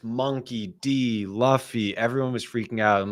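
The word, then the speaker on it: Monkey D. Luffy: clear because I uh Monkey Luffy, you're up next. Um, people were saying in the chat, they're like, "You can't even pronounce it. It's Monkey D Luffy."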